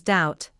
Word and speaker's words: doubt: It is also silent in words such as doubt, subtle, debt, and debtor.